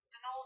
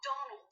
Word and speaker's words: Donal: that was the caretaker danal delaney not donald mind you there's no d at the end so it's pronounced that's